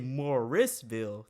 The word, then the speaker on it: Morrisville: saying it right yeah say if you say Moorsville then you're talking about the one by Charlotte if you say morisville then you talking about the one between Raley and Durham like I struggle saying